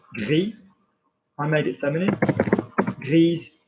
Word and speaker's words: grise: Grise, I'm going to pronounce it because there is an E after it.